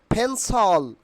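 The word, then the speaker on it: pencil: ফেইফা not paper ফেইফা নট পেন্সিল correct pronunciation will be ফেন্সল ফেন্সল ফেন্সল আমার সঙ্গে বলার চেষ্টা করো ফেন্সল ফেন্সল নট ক্যান্সেল কি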